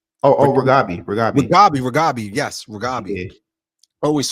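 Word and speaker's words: Reghabi: episode 6, is how do you feel about Radagi? Right? Is it how do you pronounce it? I always get her name. I always screw up her name. Wait, Radabi? Ragabi.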